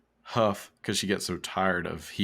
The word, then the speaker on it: Hough: It's Julianne Ho. I'm sure that's not how it's Huff. But it's spelled like with a GH at the end, right? Yeah. Kind of like so cough.